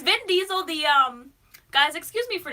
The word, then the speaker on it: Vin Diesel: my skin crawl it's not van diesel it's been diesel I smell van diesel